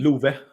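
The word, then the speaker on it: Love: And then the the Blues did just draft um I believe it's pronounced Lou Harren Stam, the goalie. Louve. Louva.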